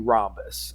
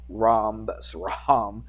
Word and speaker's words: rhombus: The rest of it sounds normal, but they put an H in there. R-H. Rhombus. I don't know if people pronounce it like that. Rhombus. That would be kind of silly, wouldn't it? So we just say rhombus.